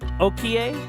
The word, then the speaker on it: Okiie: Okier. Is that how you pronounce that? Okier. Oki.